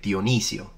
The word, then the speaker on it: Dionisio: saying that for example in Italian we say dionisio and so we stress it on the East like there's an iOS